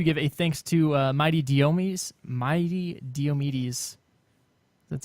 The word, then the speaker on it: Diomedes: We also want to give a thanks to Mighty Diomedes. That's how you pronounce that.